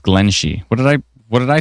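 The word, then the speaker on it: Glenshee: Pronounced Glen Shee.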